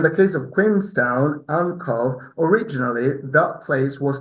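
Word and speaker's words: Cobh: It's just a false Gaelicism because it's a homophone of Cove.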